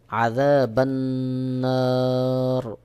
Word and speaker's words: عذاب النار: তাহলে যখন আপনি এখানে ওয়াকফ করবেন তখন সহি উচ্চারণ হবে আযাবান্নার, আযাবান্নার।